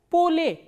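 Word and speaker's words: поле: Same way, when we talk about ye sound, ye is reduced to a, like in the word pa, o, la, ye. How will you read this word? Pole. Pole.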